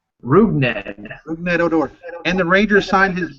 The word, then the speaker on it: Rougned Odor: Rougned Odor.